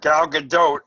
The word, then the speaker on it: Gal Gadot: Yeah, Gal Gadot. Apparently, that's how you say her name.